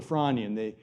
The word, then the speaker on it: Frasnian: stage known as the Fronian. The S is silent.